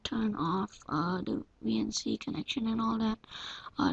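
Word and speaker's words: Veency: want to type in VNC that's not the way you actually think it's spelled it's v e e n c y and there it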